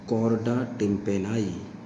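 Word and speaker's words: chorda tympani: अपन क्या बोलते हैं, कॉर्डा टिम्पेनाई, कॉर्डा टिम्पेनी या टिम्पेनाई, जो भी आप प्रोनाउंस करना चाहें, ठीक है।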